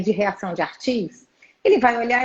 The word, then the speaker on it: Arthus: A gente já tem tanto anticorpo que chama reação de imunocomplexo tipo 3, que é a reação de Artis. Se escreve ARTHUS.